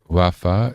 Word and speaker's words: רפא: Oh, she pronounces it riffa, a modern Israeli way of pronouncing it in the spoken sense. So, it's kind of conjugated. Rafa is the traditional pronunciation.